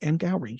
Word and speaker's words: Angourie: But it's Angourie, and it's pronounced Angourie.